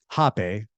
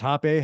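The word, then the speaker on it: rapé: the retreat it's called hoe which is pronounced hoe but spelled r a p so it's better that it's pronounced Hape however I believe it's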